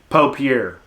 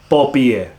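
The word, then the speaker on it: paupière: and it's spelled papier i think if you're from the south or your country you'd say pope here pope here you know if you're trying to say it like uh correctly like with the little french influence it'd be like poppier that that r somehow turns into a a y like popeye pie pierre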